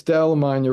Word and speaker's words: Dal LaMagna: It's Dal LaMagna rhymes with lasagna.